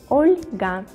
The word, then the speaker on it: Olga: this name oscar olga olga with the soft pronunciation the letter el olga my germany friends will